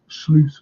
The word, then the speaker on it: Slot: I said they brought in this unknown Slot. They brought him in. That's how you pronounce his name, by the way.